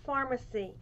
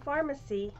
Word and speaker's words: Farmasi: from a company called pharmacy and it may not be the same pharmacy as a lot of you know and i'm going to spell it up here it's f-a-r-m-a-s-i so if you want